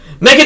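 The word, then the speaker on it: M3GAN: styize certain numbers, but no, it is still pronounced just Megan and then the E is just the three.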